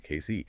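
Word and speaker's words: Cayce: That's pronounced Casey, right? Exactly. Casey.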